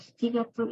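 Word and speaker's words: 七月: Nah, Shichigatsu ini nama bulan yaitu bulan Juli. Dia menggunakan Shichi ya, karena cara baca on gitu.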